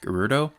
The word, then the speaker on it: Gerudo: Alright, so we'll move onwards, and that pronunciation, GERUDO, that is always how I pronounced it. I think that's the official pronunciation, but I've also heard a lot of people say GERUDO as well. I don't like that pronunciation. So I'm going to stick with GERUDO, and I apologize if